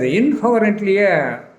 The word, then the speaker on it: incoherently: இந்த இன்கொஹரண்ட்லியை ப்ரொனவுன்ஸ் பண்ணுறது கஷ்டம். அதோடையும் சேர்த்து இதை கற்றுக்கிறது நல்லது. இன்கொஹரண்ட், இன்கொஹரண்ட், இன்கொஹரண்ட்லி. ரெண்ட்லின்னு சொல்லிடாதீங்க, ரண்ட்டுன்னு தான் சொல்லணும். இன்கொஹரண்ட்லி. அண்டர்ஸ்டாண்ட்?